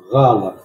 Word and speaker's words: Гала: Гала. Гала. Вот я сразу здесь отмечаю, у нас в письме не отмечено вот это редуцированное А буква. А, гала. Второе А полностью называется, а второе глухое А.